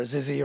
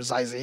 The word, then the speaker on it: XYZZY: This past weekend at Southern California Regionals, we saw Mana RD, we saw XYZZY or Zizzy or Zizi, however you want to pronounce it.